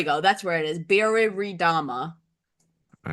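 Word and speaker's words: Biriridama: I feel like there's an extra re here that I'm not pronouncing properly. Biridama. There we go. That's where it is. Biridama.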